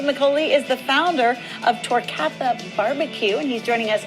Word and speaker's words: Torcatha: Dave McCauley is the founder of Torcatha BBQ, and he's joining us in studio this morning with more. Am I saying it right? Yes, Torcatha.